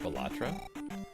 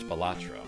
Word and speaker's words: Balatro: It's pronounced gelato. Balatro?